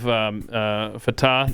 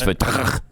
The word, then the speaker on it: Fateh: You have Fateh, the Democrat. You have another Democrat. You said it wrong. It's Fateh.